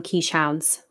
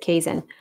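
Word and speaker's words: Keeshond: it was a kaizen a lot of people call them quiche hounds but you pronounce it kaizen um the dog was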